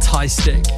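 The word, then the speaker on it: TY3STIK: This one's from someone called Ty Stick, and that is spelled T-Y-3-S-T-I-K.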